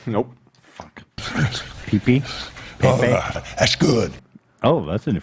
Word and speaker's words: Pepe: losing, there was a meme of like the Pepe frog. Am I saying it right? Nope. Fuck. Pepe? Pepe?